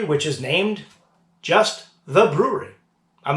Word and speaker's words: Bruery: is named just the Bruery. I'm not making this up. It's just the Bruery. Although they do spell it a little differently. They spell it B-R-U-E-R-Y.